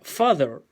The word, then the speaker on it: father: yo tapo acá ya ahí queda fader que es cierto papá o padre como habíamos dicho que se pronunciaba tal cual sale ahí pero cambiando la t y la h por una de de dedo y para que padre